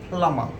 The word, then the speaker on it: plumber: it has to be plummer plummer see b is completely silent in here i need a plumber